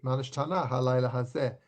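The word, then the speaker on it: מה נשתנה הלילה הזה: and 90s and 2000s, they were pronouncing it more like modern Hebrew. So I would have expected a change from Manish Tanau Halayla Hazeh to Manish Tanah Halayla Hazeh. But no, they've kept the old pronunciation.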